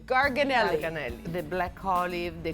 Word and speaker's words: Garganelli: Garganelli. Garganelli.